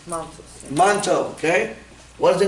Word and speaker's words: Mantoux: Mantoux. It's yeah. French. Yeah, Mantoux.